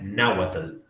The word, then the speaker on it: náhuatl: La pronunciación sea náhuatl. Náhuatl. ¿Okay? Aquí la L funciona casi como una vocal.